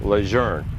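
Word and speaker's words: Lejeune: of all times and how to say it it is it is John Archer lour it is incontrovertibly incontrovertibly correct the pronunciation of his name we've lost it for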